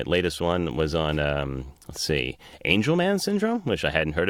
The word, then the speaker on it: Angelman: one was on see Angelman syndrome which I hadn't heard about before and actually did the whole segment pronouncing angleman because I'm an idiot and flying got back to me I said it's angel and they did a